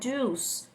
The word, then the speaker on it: juice: É igual a palavra juice, que é outra palavra que a gente percebe que o pessoal tende a falar o i, mas esse i não é pronunciado.